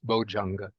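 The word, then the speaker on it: bojjhaṅga: difficult so in the spoken dialects then the gets changed into J so it becomes bojang so if you pronounce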